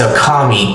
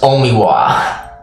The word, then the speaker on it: 大神: Strangely enough, the name is written as Okami, great god, but read as Omiwa.